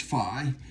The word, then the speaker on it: phi: the golden ratio and i said fee but it could also be pronounced phi and so i think